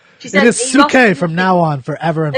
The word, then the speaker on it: Psyche: That Suki or Psyche was You could beautiful. say Psyche. Say it. Yeah, so she said It is Suke from now on, forever and forever.